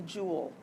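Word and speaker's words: joule: SI unit is the jewel I know it's spelled a little weird but it's Jewel um the abbreviation is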